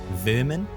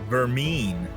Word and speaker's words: vermin: nice is that some i'm going to say it correctly vermin yeah and not vermeen yes for those are